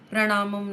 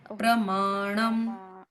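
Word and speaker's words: प्रमाणम्: प्रणाम बीजम व्ययम प्रमाणम प्रणामम नहीं प्रमाणम प्रमाणम बीज बीज बीज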